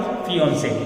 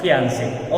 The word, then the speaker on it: fiancé: So this word is correctly pronounced फियांसे, नॉट फियांसे. Okay.